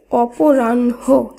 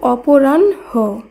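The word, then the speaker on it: অপরাহ্ণ: যেমন দেখুন, অপরাহ্ন এই শব্দের শুদ্ধ উচ্চারণ অপরাহ্ন এইভাবে করতে হবে।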